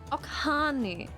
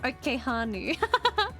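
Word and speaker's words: Ok'hanu: Okanu, not Okehanu. Okanu.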